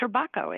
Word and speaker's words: Trabocco: And yes, the pronunciation is correct. Turbakco is the way you uh pronounce it.